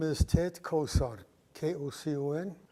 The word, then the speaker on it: Kocon: My name is Ted Kocon, Kocon. Pronounce the C like an S.